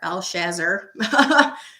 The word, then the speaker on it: Belshazzar: is named so again belshazzar al-shazr is probably the correct pronunciation of that but he